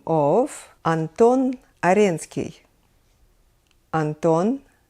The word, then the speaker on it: Аренский: edition I will be using my native language Russian to pronounce names of Russian composers just the way we say them in Russia and we will start with the name of Anton Aryan ski Anton Aaron ski an